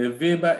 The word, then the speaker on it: Weber: produce they Pronounce W at Vin so the Viber is spelled w-e-b-e-r Max Weber so because he